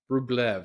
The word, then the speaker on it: Rublev: Rublev. That's how it's pronounced.